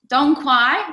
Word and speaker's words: Dong Quai: Dong Quai means you don't quai no more. That's how I remember how to say it.